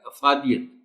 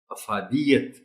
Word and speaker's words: افادیت: اب اس لفظ کو عام طور پر پڑھ دیا جاتا ہے افادیت، جبکہ درست تلفظ ہے افادیت، انسانیت۔ اعتراف، تے کے نیچے